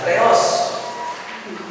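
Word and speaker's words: θεός: nanti kalau saudara menuliskan theos Allah ya theos pakai Teta teos tapi kalau kita membaca seolah-olah dia gak ada h-nya teos Tapi harusnya itu pakai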